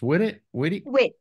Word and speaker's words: White: And then White. Or how's it pronounced? Witt.